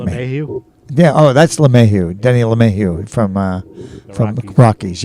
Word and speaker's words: LeMahieu: Oh, that's LeMahieu, Denny LeMahieu from Rockies.